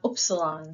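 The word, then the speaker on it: ύψιλον: and then we have opsilon so this is not uh a u u sound it is an ooh sound as in boot and wrapping up the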